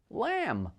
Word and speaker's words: lamb: doubt numb subtle thumb lamb not a b to be heard and silent l's are